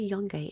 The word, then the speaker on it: Yungite: So you'll have to look into Yungite. It's spelt just like young, like a young person with ite at the end.